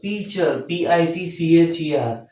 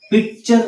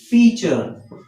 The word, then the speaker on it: pitcher: Or what's the pronunciation of pitcher, PITCHER? But though its spelling is PITCHER. Picture, no, pitcher. T is silent.